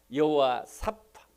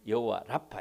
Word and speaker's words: 여호와 라파: 여러분, 코로나 사태가 아무리 위중해도 고치실 수 있는 하나님, 치료하는 하나님, 여호와 사파, 여호와 라파, 발음은 두 가지로 합니다. 다 틀린 것은 아닙니다. 원래 발음 여호와 라파 해야 되겠죠.